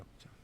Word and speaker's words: 역전: 상하편으로 구성된 것이 있어서 합하면 10개인데 이게 모든 유교경전에서 공자와 관련된 건 경이라고 읽는데 주역만 전이라고 합니다. 전. 그래서 역전이라고 합니다. 역전.